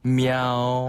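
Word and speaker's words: 喵: 고양이가 그 야옹 하는 발음을 네. 중국인들은 어떻게 표현하냐면 네. мя오라고 해요. 아, 마가 미아로 가네요? 네. 미아오.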